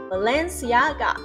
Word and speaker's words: Balenciaga: 再次哦，Balenciaga， Balenciaga。Next one，在保守的社会